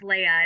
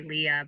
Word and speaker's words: Leah: audience well um um my name is pronounced Leia it's very common common common for people to say Leah but um it's pronounced Leia and um I guess